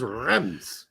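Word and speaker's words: Reims: don't know I never really thought it was pronounced Reams anyhow I always thought it was rem's right but now it turns out it's awesome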